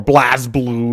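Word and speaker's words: BlazBlue: people that did like blaz blue or Blas blue if you will apparently that's the correct way to say it Blas blue or and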